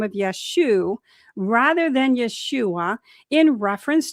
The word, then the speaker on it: Yeshua: we now understand that the form Yeshua likely reflect reflects Galilean dialectical pronunciation from the 1st century CE. In certain northern Aramaic-speaking regions, especially in Galilee, where many of Yeshua's early disciples lived, the final letter ayin was often dropped in common speech.